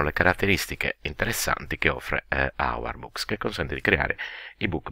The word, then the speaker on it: Ourboox: dieci minuti vorrei presentarvi quello che assumerò per ipotesi si pronunci hour books un po come fanno